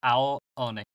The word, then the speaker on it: Ao Oni: Is that how it's pronounced? Yep. Ao Oni.